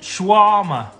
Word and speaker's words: shawarma: Pronounced shawarma.